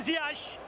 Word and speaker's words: Ziyech: geldiği anda Ortadoğu muhabirimize Biz doğru mu söylüyoruz futbolcunun telaffuzun ismi böyle mi dediğin Hayır hakim ziyaj dedi ve Galatasaray'ın yeni transferi